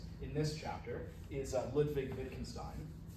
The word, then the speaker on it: Wittgenstein: So the W is pronounced as a V, so Wittgenstein or Stein.